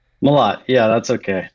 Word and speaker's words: Mellott: So I just found out that I pronounced your name wrong. It's Malat. Malott, yeah, that's okay.